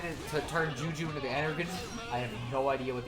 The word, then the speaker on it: Energon: It's pronounced Energon. It's a thing from Transformers.